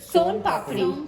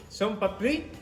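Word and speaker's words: Soan papri: Son papdi. Son papdi. Papdi. Som papri.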